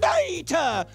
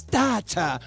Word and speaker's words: data: too long it's called Data oh no it's data later data data guys guys guys excuse me but the truth is either pronunciation is correct you can pronounce the word data or data I knew it the